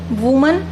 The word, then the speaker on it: women: वुमन WOMAN वुमन एक महिला एक औरत, और WOMEN इसका जो उच्चारण है, प्रोनाउंसिएशन है, वो भी बदल जाता है। अब इसको हम पढ़ते हैं वीमन।